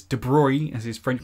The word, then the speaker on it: de Broglie: If you are confused, it's de Broglie as his French pronunciation, but de Broglie is really I like de Broglie. It's de Broglie.